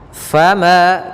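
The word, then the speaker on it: فما: manquusah kemudian faama Fa hati-hati jangan baca Fa Tapi di F fama Kemudian pada lafal Ma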